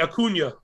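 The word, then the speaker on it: Acuña: Enye, Acuna. Acuna, so it has like the extra flair to it. I don't see one of those the Enye, yes. Yeah, Enye. Acuna Matata.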